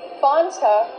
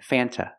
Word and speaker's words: Fanta: is pronounced f f use the short a sound before the N it changes a little bit it becomes a little more nasal in your nose f